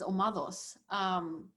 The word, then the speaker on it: Omados: Yeah, well, look, when I look it up on the internet, it's Omados, over the accent on the A, but it means it's the personification of battle noise.